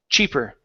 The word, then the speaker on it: cheaper: at the very beginning instead of sheep it's ch cheap the CH is a powerful sound that you push and then stop the sound Chi cheaper sheeper H almost so